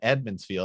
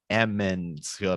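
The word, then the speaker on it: Emond's Field: first started the series i kept calling it edmonds field and then people were like it's eminence field i was like sorry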